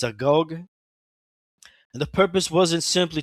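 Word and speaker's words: agoge: It's spelled A G O G E. I think it's a Gogg.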